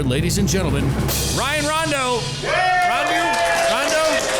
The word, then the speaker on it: Rondo: Rondo. Did I say it right, Ryan? Yep, you did.